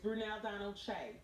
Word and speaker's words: Brunel Donald-Kyei: It's Brunel Donald-Kyei.